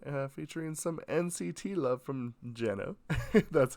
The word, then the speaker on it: Jeno: donghae's new sound featuring some NCT love from Jenna that's how it's pronounced and uh yeah anyway we'll see you